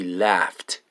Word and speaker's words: laughed: We cứ dương laugh past tense sao laugh gh pronoun as an f we laughed at the story okay and ed at the end is sound t we laughed at the story number 10 the baby took a nap.